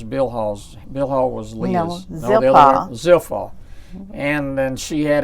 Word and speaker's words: Zilpah: In essence, Bilhah and how did you pronounce her name? Zilpah? Zilpah.